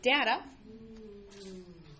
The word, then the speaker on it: data: So data. How do you pronounce this word? Data. Data. You can say data or data. Uh both are accepted.